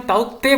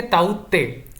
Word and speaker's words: ताउते: यहां पर आप देख सकते हैं कि ताउते, इसे हम ताउते प्रोनाउंस नहीं करेंगे, इसे हम कहेंगे ताउते।